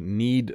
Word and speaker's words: knead: Sometimes we have silent letters. So when you make bread, you need to knead the dough. I just used two versions of knead there, by the way.